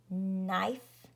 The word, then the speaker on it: knife: And remember that W-R together says and the W is a ghost or silent letter, and K-N or G-N says N, and the K is a silent or ghost letter.